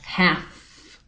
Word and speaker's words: half: é igual half half esse l não é pronunciado tá half Beleza beleza então esses